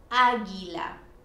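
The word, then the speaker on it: águila: have ge gi and we have to put a u that is silent in between those two letters some examples aguila now here comes another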